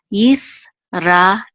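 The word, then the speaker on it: ישראל: This shiva is silent, so it'll be part of this syllable, so it's yis. This is a resh with a kamatz, ra, and this is a aleph with a sigil, which says e. And this lamed is part of this syllable, so it's el. Yisrael.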